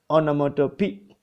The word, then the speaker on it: onomatopoeia: Actually onomatopoeia, but it is pronounced onomatopoeia.